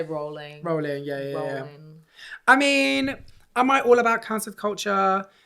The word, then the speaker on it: Rowling: I say Rowling.